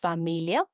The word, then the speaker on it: familia: But a 3-syllable word, for example, familia, familia, which means family, again has no accent. But I know to emphasize in me.